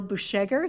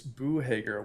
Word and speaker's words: Busheger: Presenting this evening is our associate planner, Busheger. Did I say that right? Almost got it, Madam Mayor. Please tell me, correct me. It's Boohager. Weirdly enough, the Boohager. C is silent. Boohager.